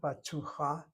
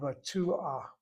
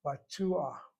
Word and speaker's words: batuach: Notice how I say the word, not batucha, but batuach, batuach, batuach.